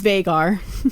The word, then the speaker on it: Veigar: exceptionally tall yeah and that is how you say it everybody it's vagar that's how the rer says and they even give